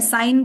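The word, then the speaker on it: sign: जीी एन ठीक है साइन देखो आप साइन एस आई जीी एन साइन बोलते ना साइन कर दो यहां पर ठीक है ना वैसे कौन कन से देखो सिग्नेचर जब हम बोलते ट इ डिफरेंट है ना तो वहां भी एस आई जी एन ए टी यू आर ही आ रहा है बट उसको हम साइ नेचर तो नहीं बोलते ना उसको हम सिग्नेचर बोलते हैं साइन हो गया अलाइन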